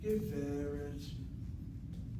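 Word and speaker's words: גברת: And so the sego, and short vowel open syllable, accented. Geveret.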